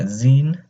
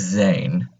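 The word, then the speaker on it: zehn: So how you pronounce that is that the E is not zine, it's zane. So pronounce the E as like A.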